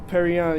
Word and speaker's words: Perrion: Yeah, Perrion, yeah, but it's spelled like Perignon.